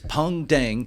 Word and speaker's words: Pung Dang: It's not Ping, it's Pung Dang.